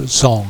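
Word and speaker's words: Dzong: Course good and this building is the tempo zong that's spelled d-z-o-n-g I suppose it could be described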